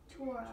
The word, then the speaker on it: Torah: So in Hebrew, it typically accents the last syllable. Not always, but typically.